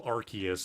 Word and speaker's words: Arceus: But also Arceus is the correct pronunciation, and you can't pay me enough to say that shit.